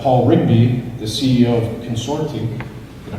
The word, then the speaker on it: Consortiq: Then we have Paul Rigby, the CEO of Consortiq. Did I pronounce that correctly? Yeah. Consortiq, okay.